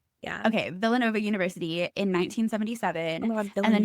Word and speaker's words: Villanova: Is it pronounced like Hispanic or is it Okay, no, Villanova is how it's pronounced like. Yeah. Okay, Villanova University in 1977 and then he got a